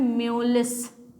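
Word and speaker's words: mjölis: Swedish language में जे को हम लोग बहुत कम प्रोनाउंस करते हैं, इसमें जे क्या है, साइलेंट है, ठीक है, जे साइलेंट है और ये ओ जो है वो उमलाउट है, तो इसीलिए इसका प्रोनाउंसिएशन हो जाता है म्योलिस, ठीक है, इसका प्रोनाउंसिएशन हो जाता है म्योलिस।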